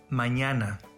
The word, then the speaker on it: mañana: spanish example hermana hola this letter has an ny sound example manana the double l letter